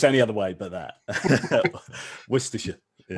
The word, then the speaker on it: Worcestershire: Worcestershire. Yeah. Worcestershire.